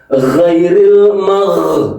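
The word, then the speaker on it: غَيْرِ: G g giriril bukaniril ya. Kalau giril nanti salah lagi. Ghairil magdu bukan magdu.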